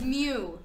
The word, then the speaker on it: mu: It's mu. Meow. Ew, it's not. It's mu. So we're going to spell it M-O-O.